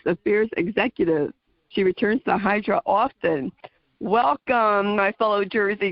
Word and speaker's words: Hydra: want to go uh to hydra which in greece they pronounce in idra which is interesting and i'd like for